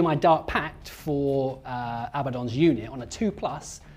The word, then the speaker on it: Abaddon: edition one of them is I need to pronounce it Abaddon oh and the other one has been shake